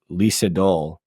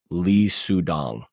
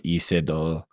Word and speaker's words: Lee Sedol: the AlphaGo games to Lee Sedol as Lee Sudong. I'm sure I'm mispronouncing it. Lee Sedol. It's probably Isedol, something closer to that.